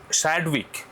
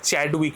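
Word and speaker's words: Chadwick: তারপরে 1932 সালে তার ছাত্র জেমস স্যাডউইক এটা উচ্চারণটা চ্যাডউইক নয়। কিন্তু এই উচ্চারণটা হচ্ছে স্যাডউইক।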